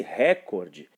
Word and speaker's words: recorde: a palavrinha recorde, cuja sílaba tônica é o cor e não o ré. Se fosse recorde, teria acentuação gráfica na sílaba ré, seria uma palavra proparoxítona. Nesse caso, não é uma palavra paroxítona, cuja tonicidade então recai aí sobre a segunda sílaba, que é o cor, recorde.